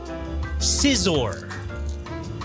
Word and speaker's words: Scizor: Scizor. Oh, okay. Scizor.